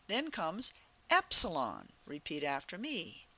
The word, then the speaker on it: epsilon: sound of the letter we say epsilon and that Epsilon has an e sound Epsilon the next letter